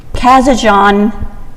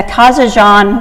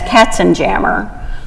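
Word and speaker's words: Kazanjian: She dropped her family name when she became an actress because everyone would pronounce it as Katzenjammer, which was a popular comic strip at the time.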